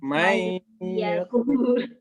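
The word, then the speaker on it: من يقول: Apabila waqaf pada lafaz man yakul, Quran surat salah bacanya. May yakul.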